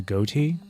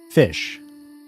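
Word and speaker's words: Ghoti: for this is actually fish. G h o ti is actually supposed to be pronounced as fish because of how the English language works.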